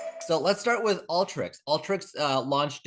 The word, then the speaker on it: Alteryx: I say Alteryx. Is it Alteryx? Is that how you say it? I've heard both, including from Dean Stalker, their founder. Alter is it's Alter YX because they have this geospatial background.